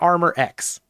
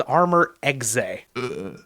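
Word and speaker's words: Armor Exe: yourself and then come back it's it's not armor X um in fact it is armor xay yeah so this card I before you scream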